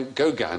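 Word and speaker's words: Gauguin: was cut off by Goan a fight isn't there oh it's not pronounced Goan got two G corn there we are I'll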